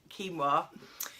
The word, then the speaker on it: quinoa: You may have heard it pronounced quinoa or quinoa. There's a lot of varying opinions out there, but I'm going to stick with quinoa.